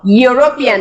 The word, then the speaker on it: European: vowel is a letter so European it doesn't start with the Y sound Y sound unit Y sound